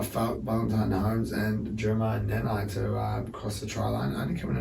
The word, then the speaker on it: Nanai: And Jeremiah Nanai, he scores, or Nanai, I think I said the other week. And we found out that was the correct way of pronouncing it.